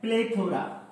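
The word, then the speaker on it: plethora: Second जो हमारी spelling है वो है प्लेथोरा, प्लेथोरा, लेथोरा, प्लेथोरा। आवाज क्या आ रही है, लेथोरा।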